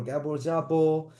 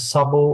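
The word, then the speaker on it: Szabó: But anyway, all right, let's move on and go to Gabor Jabo. Am I saying it right? Is it Shabo? Oh, you're on mute, I think. Your pronunciation the first time is Sabo was perfect.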